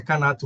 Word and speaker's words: Canato: É Canato mesmo, Canato. A maioria das pessoas me trata como, mas o Canato tá correta a pronúncia.